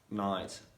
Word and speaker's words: knight: is funny because like the pronunciation of knight on night is the same one because i think i thought that it should be different uh but it's not yeah so the letter